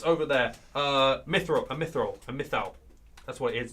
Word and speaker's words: mythal: A mythal. That's what it is. It's a mythal.